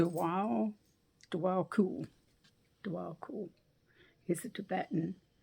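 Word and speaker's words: Djwal Khul: this is how you say his name d DW cool DW cool is a Tibetan monk Enlighten action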